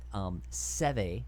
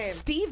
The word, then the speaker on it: Seve: Steve Ballesteros. Oh my God! And then Mark would always have to be like, I think it's pronounced Seve.